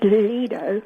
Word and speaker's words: lido: And the I is pronounced an I with a colon after it, as in the word me. Therefore, the correct pronunciation is Lido.